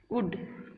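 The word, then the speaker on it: would: एल इसमें जो होता है वो साइलेंट होता है, साइलेंट होता है, इसका मतलब कि एल का उच्चारण यहाँ पे नहीं होता है, ठीक है। तो शुड, कुड, वुड, शुल्ड नहीं बोलना है, कुल्ड नहीं बोलना है, उल्ड नहीं बोलना है। बहुत से बच्चे गलती करते हैं, शुल्ड, कुल्ड, उल्ड बोलते हैं, तो दैट इज रॉन्ग।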